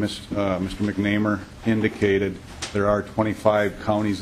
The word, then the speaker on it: McNamar: pronounce your name correctly you know sometimes I pronounce it wrong it's mcnamer MC mcer okay thank you thank you Mr